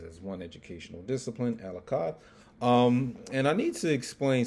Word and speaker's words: Achad: For those of you who can't pronounce that Achad word, Achad.